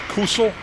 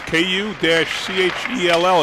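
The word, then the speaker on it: Kuchell: It's K-U-C-H-E-L-L. It's pronounced, so Kuchel.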